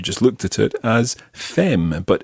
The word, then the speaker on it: femme: about your wife, you would talk about ma femme. Ma femme. Okay, so the word for wife is femme. Now be careful with that one, because if you see that written down, you'll notice that it's spelled F-E-M-M-E.